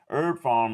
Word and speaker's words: Herb Pharm: Herb Pharm is herb, but farm is spelled P-H-A-R-M.